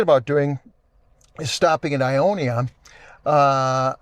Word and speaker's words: Ionia: Uh one of the things we're thinking about doing is stopping at Ionia. Uh Iona, how do you say that? I think it's Ayanna. Ayanna. Thank you.